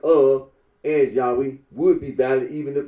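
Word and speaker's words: Yahweh: for the name yahwe the scholarly consensus in that the original pronunciation of tetr was yahwe Rino agrees that when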